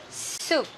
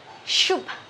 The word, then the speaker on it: soup: salad salad soup soup a lot of my students they pronounce this one is shoop shoop shoop and my Chinese friend he pronounced as soup look there no I'm